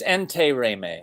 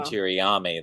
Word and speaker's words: Intiraymi: gave me yeah so it's entei reimei it's entei reimei it's just it's not that difficult it's hard to look at but entei reimei same same syllable well when you look at it it it doesn't look like entei remain it looks like tiriami that's what most people say but monument okay okay